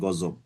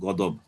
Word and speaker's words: غضب: গদব আরবি শব্দ, আমরা বাংলা ভাষা বলি আর কি গজব, কিন্তু আরবি হলো গদব।